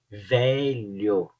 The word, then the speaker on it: velho: Por exemplo, palavras com a letra L e H, É um pouco difícil a princípio para o estrangeiro pronunciar. Coelho, coelho, lho, lho. Então o LH é um pouco difícil. Velho, velho ou velha.